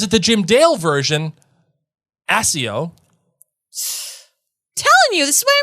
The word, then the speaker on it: Accio: make sense because it's the 2 C's, so it's a hard pronunciation. Is it? Or is it the Jim Dale version, Accio?